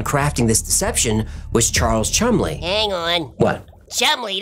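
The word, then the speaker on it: Cholmondeley: Officers working on Crafting this deception was Charles Chumley hang on what shall we danced it says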